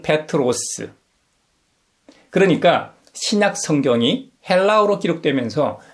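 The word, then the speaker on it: Πέτρος: 우리에게 잘 알려져 있는 베드로는 그리스식 이름입니다. 발음은 페트로스.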